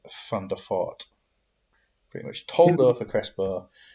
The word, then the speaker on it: Van der Vaart: It's like Van der Vaart is Van der Fort.